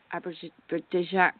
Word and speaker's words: Abidjan: And hopefully the show will be from Abidjan. Pronounce it for me, Brazil.